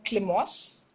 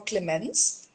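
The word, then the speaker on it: Clémence: you can go for Climos, or you can go Climos. for Togo. Yeah, Climos is French pronunciation for Clemens.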